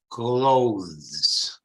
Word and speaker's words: clothes: When you speak of the panno, la stoffa, cloth, it's cloth. When you make the garments, i vestiti, it changes into a the, from th to the. So clothes. This is one of the most difficult English pronunciation, because you need to pronounce the and then the s.